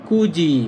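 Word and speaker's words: 굳이: তখন এটা হবে কুজি। কুজি মানে ইচ্ছাকৃতভাবে। এই দেখেন এখানে কিন্তু ত উচ্চারিত হবে না। তখন এটা উচ্চারিত হবে জ। তাহলে হবে কুজি মানে ইচ্ছাকৃতভাবে।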